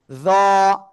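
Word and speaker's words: ظاء: জিহ্বার আগা, উপরের দুই দাঁতের আগায় লাগাবো, লাগিয়ে মোটা আওয়াজে উচ্চারণ করব। জ, জ।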